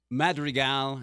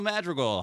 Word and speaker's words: Madrigal: because he's Latino but madri gal and then they'll say you're not rolling your RS right but you know my